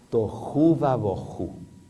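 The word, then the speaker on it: תֹהוּ וָבֹהוּ: En el idioma en que se escribió la Biblia, en hebreo, desordenada se dice toju. Toju y vacía boju. Miren qué fácil que es decirlo. Tojuva boju va quiere decir i desordenada y vacía.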